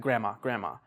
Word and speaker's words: grandma: Like native speakers, you don't really say the D, you just say like grandma.